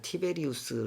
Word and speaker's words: 티베리우스: 들었죠 로마 제국의 황제 여기서 디베랴 o 라고 했는데 우리 세계사에서 티베리우스 라고 발음하는 사람입니다 그 티베리우스 그가 파견한